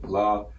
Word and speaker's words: Lawaya: See the L looking character, Lawaya.